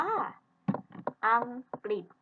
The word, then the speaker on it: อังกฤษ: ตัว หรือ อยู่ ด้วย แต่ เวลา เรา อ่าน ออก เสียง ร อ่าน ออก เป็น รินะ ดี นะ คะ อ้า นะ คะ อ่าน อีก ครั้ง นะ คะ อัน ที่ หนึ่ง เรา อ่าน ว่า อังกฤษ คัน ที่ สอง เรา